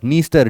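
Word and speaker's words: Dniester: और डीएन वाला बताओ ये देखो निस्टर निस्टर डी साइलेंट है निस्टर रिवर नाइप रिवर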